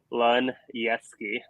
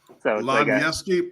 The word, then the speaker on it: Luneski: But their last name is pronounced Luneski. So Luneski.